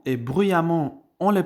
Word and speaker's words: bruyamment: fait attention à la prononciation car récemment et bruyamment on les prononce de la même manière mais l'orthographe est